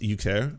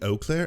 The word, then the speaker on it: Eau Claire: bringing this all up it's pronounced you care uh it's actually technically wouldn't it be eau claire oh it's french for water but uh yeah i could do euclare it doesn't matter to me here's where some investigation